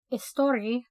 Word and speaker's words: Eostre: It's also known, the goddess known as Eostre.